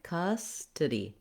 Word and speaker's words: custody: So you want to lengthen custody, tiddy, and you want these other 2 syllables to be short and unstressed. We do have a clear E vowel at the end of this word, so watch out to not say custody.